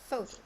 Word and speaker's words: photo: So the first one, as you said, photo. So here we have the stress in the first syllable, right?